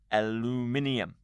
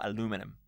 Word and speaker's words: aluminium: in the modern times it would actually be aluminium or aluminum depending how you pronounce that specific word but here in the